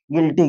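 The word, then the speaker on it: guilty: वो यू होता है वो साइलेंट हो जाता है तो यहां हो जाएगा गिल्टी गिल्टी माने होता है दोषी कि मैं इस चीज पर बहुत गिल्टी हूं।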